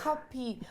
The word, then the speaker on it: Cuppy: So how do you pronounce it? What's the correct It's Cuppy.